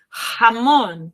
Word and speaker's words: jamón: Muy cuidado aí com a pronunciação de la J, jamón, ¿vale?